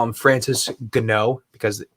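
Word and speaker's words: Ngannou: and then that's why if you see any of his first fights in the ufc they call him francis gno because it's ngan which is a different pronunciation in france interesting yeah a little bit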